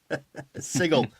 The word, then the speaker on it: Sigil: Sigil. It's a G, like GIF.